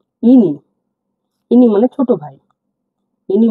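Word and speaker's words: іні: যেটা পেয়েছি আমরা দেখুন এ উচ্চারণটা হবে ই এর মত যেমন একটু সিম্পলি হবে কোন জোর দেব না আমরা ইনি ইনি মানে ছোট ভাই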